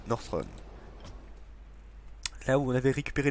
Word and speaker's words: Northrend: du sud glacées de Northrend. Northrend, c'est pas Northrend, c'est Northrend. Je le prononce très mal.